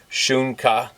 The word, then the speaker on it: Sunka: Sunka, pronounced Shunka, dog, Lakota. Pet your horses for me.